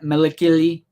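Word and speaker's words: Malakili: goals let's get that oola let's get that melikili that's how you pronounce the rancor keeper's name so i'm excited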